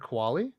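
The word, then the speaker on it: Qualley: the young actress's name her her counterpart Margaret Kali Kali thank you both those two played amazing off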